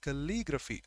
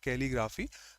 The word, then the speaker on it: calligraphy: so that beautiful handwriting is supposed to be calligraphy that's the pronunciation not calligraphy calligraphy bio means life graph is to write